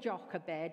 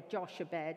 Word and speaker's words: Jochebed: If I said, if I said the name Jochebed or Joshebed, however you want to pronounce it, who would you say was one of her children? Anybody? No looking it up. J-O-C-H-E-B-E-D, Jochebed.